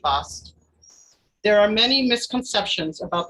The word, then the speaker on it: Bast: very good offering for her name is sometimes written as Bostitch but that is due to a mistransliteration of her hieroglyphics the second letter T was only to signify a female ending the correct pronunciation should be bust there are many misconceptions